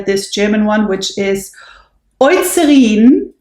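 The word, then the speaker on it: Eucerin: German one which is oin that's how you actually pronounce it but I believe Americans usually say userin but it is oin because e EU is o in German so oine and it's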